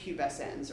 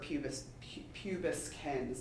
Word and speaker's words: pubescens: And then C. pubescens or pubescens, depending on how you want to pronounce it.